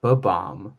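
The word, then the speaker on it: Bob-omb: on baba yeah because it's not it's not a bomb it's a bo bomb which is different because it's from mario and then both are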